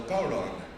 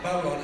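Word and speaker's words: bodhrán: It's called a bowron. It's spelled B-O-D-H-R-A-N. The H in the Irish language is a modifier, so it confuses a lot of people for pronunciations and the like.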